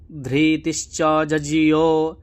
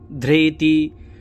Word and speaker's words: ধৃতি: তারপরে দেখুন নমু চেত ধৃতিস্ীয় এই যে ধৃতিস্চ জীয় আছে ধ এর নিচে কিন্তু ঋ সবসময় যজুর্বেদে রে মতন উচ্চারণ হবে ধ্রেতি ধৃতি কিন্তু হবে না